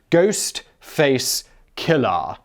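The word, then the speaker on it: Ghostface Killah: face not ghost faced it's also tricky to pronounce ghost face killer k-l-l-a-h not er because you know i'm sure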